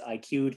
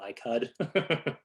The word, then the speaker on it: IQ'd: I know it's spelled funny. It's IQ'd, not ICUD.